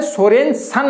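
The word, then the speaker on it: Sørensen: इसका मतलब who discovered pH scale, pH scale की खोज किसने की, इसका मतलब SPL सोरेनसन बोलना है, SEN।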